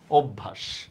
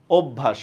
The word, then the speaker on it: অভ্যাস: শব্দের উচ্চারণটা ঠিক আছে অভ্যাস শব্দের উচ্চারণটা হচ্ছে ও বসন্তভ ভ আকার তালব্য সহ শব্দ অভ্যাস অভ্যাস রাইট হ্যাঁ মায়ের মনের ইচ্ছা